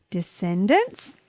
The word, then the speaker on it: descendants: ham Abraham Abraham Abraham d e s c e n d a n t s this word has three syllables and the C is silent d sin dance descendants descendants descendants descendants are